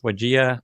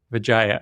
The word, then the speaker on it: Widjaja: I always forget how to pronounce her last name exactly, but I think it's Wajia, Crystal Wajia. Vijaya.